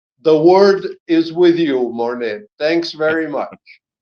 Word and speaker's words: Morné: word is with you mouret thanks very much is that how how you pronounce your name with with an accent on the E right yes mon like the French painter mon yeah okay e thank